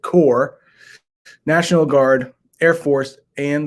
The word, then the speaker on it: Corps: I know it has a P there, but we pronounce it Corps, National Guard, Air Force, and the Coast Guard, who sacrificed their lives to defend America's freedom.